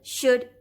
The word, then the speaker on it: should: So you can tell your children that the phonogram OU also sounds like short U, as in sh, u, d, should, L is silent here, k, u, d, could, and w, u, d, would.